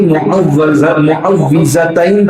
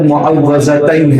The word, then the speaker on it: معوذتین: یہ ہے کہ آدمی معوذتین پڑھے۔ زبان زد معوذتین ہے لیکن صحیح اس کا تلفظ ہے معوذتین، یعنی ایسی دو صورتیں